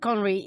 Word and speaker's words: Conri: So let's start with Conri.